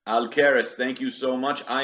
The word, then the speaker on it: Alqueres: Alcaris. Aleris. Thank you so much. I am terrible with pronunciations, especially when I don't speak Portuguese.